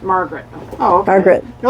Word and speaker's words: Marguerite: think I asked my somebody and they're like, "Margaret." Oh, okay. Margaret. They're like, "It's just a fancy way to say Margaret."